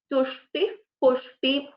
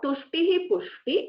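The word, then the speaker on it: तुष्टिः पुष्टिः: So in this scenario, this will be pronounced as Tushti, Pushti, Tushti, Pushti. So it is not Tushtihi, Pushti, it is Tushti, Pushti.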